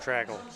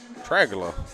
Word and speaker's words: Tragula: Tragula. Tragula. Like Dracula with a T.